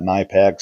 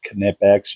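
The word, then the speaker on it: Knipex: I've always called that Nipex for a long time now. I've recently learned I guess that's pronounced Kipex. You actually say the K.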